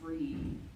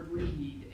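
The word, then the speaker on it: Bríd: Bridget of Kildair that the people who were living in Ireland were celebrating a goddess named Bridgette or sometimes in Irish the name is pronounced breed or breed instead of Bridg.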